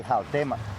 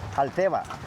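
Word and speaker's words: Xalteva: Here you can see who you can work the word Halteva is right with X but the pronunciation is with J. We say Halteva Halteva similar like Mexico.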